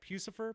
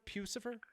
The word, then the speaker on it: Puscifer: uh pews for obviously and am i i'm pronouncing it correct right pucifer pucifer i i i believe so you know i